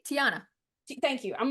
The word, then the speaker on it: Tiana: my favorite stories is I saw a tati Tatiana wait T Tiana thank you I'm like I always get her name wrong princess in the Frog and then I